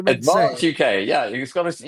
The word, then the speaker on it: Advance UK: So, it's advanc UK. Is that how we say? Advance UK. Yeah. You got to You can't say it like Colgate. You got to say Advance.